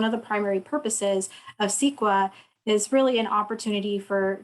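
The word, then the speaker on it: CEQA: california environmental quality act while it's spelled c-e-q-a everyone calls it sequa and it discloses the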